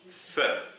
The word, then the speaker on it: ف: Alors, la lettre Fa, la lettre s'appelle Fa et elle se prononce Fe.